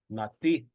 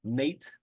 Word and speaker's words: nati: Nati. Nati. I know it looks like someone's name, Nate, but it's nati.